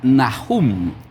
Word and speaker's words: Nahum: El nombre de Naum en el hebreo se pronuncia Nahum.